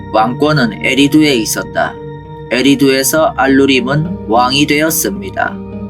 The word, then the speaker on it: 에리두: 완벽히 출토되었습니다 대홍수 이후에 에리두 도시는 기원전 5000년경 우바이드 문화 시대부터 시작되었으니 고고학적으로 밝혀졌습니다 문제는 대홍수 이전에도 또 다른 에리도가 있었다는 것이죠 왕좌의 장소라는 뜻입니다 수메르의 별종인 아카드인들은 에리두라고 발음했습니다 이것은 수메르어 사전을 통해